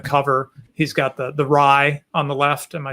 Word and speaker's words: rai: see from the cover he's got the the rye on the left am i saying it right the rai yep the big stone money right he's bringing